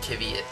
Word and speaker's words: Kvyat: Kvyat sounds like kitty cat.